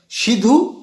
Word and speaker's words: সিধু: বিদ্রোহের প্রথম দুইজন নেতা সিধু কানু উচ্চারণটা সিধু না উচ্চারণটা সিধ ও কানহো ঠিক আছে সিধ কানু